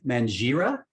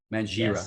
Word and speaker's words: Mangira: so here's my question the g in your last name is it a silent g or is it a hard g i've heard people pronounce